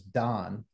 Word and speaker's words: Dawn: talking about is like d-a-w-n is how do you say that Dawn dawn like it's got an aw in it so it's yeah and so my wife says d-a-w-n is Don and like no Don's